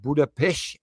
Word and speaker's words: Budapest: Hungary uh and to the wonderful city of Buddha Pesh as they pronounce it over here and it was actually